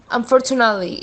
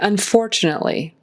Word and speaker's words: unfortunately: The word unfortunately, the emphasis is on that second syllable. Unfortunately, make sure you get the T in there. We don't want to say unfortunately. That's not really a word, so there's got to